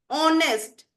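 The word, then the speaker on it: honest: एन की बताऊं तो जैसे एन ऑनेस्ट बच्चे यहां पे एच साइलेंट है तो हमने इसके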